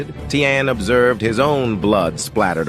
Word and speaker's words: Taehyun: I believe it's pronounced Taehyun.